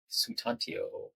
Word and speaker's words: Sutantyo: yourself thanks David and it's Sutantio so it's it's a it's phonetic but I understand that when you see a string of letters.